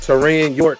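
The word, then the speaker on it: Taurean York: Tyron York. That's how you pronounce it.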